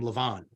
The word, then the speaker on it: Laban: In that Bible, and most Jews will pronounce his name Lavan.